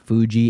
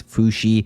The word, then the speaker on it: Fushi: It's not Fuji, it's Fushi.